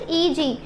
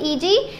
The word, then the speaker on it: eg: क्या कहते हैं, हाउ डू you pronounce it, EG. एग नहीं कहोगे, क्या कहोगे, EG और T2G.